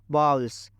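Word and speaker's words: bowls: I need to बाउल्स इसको अच्छे से प्रोनाउंस करना यल्स ऐसा कुछ नहीं इसका करेक्ट प्रोनंसिएशन होता है बाउल्स I need to falls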